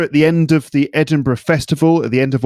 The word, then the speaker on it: Edinburgh: I know Edinburgh, and that's how we pronounce it, Edinburgh.